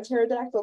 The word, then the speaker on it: pterodactyl: gonna do it okay why can't you hear a pterodactyl go to the bathroom the p is silent that was a good